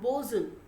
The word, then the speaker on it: boatswain: the captain and a bosun this will be after this will be pronounced as bosun not boatswain okay it's it will be uttered as bosun and boson is one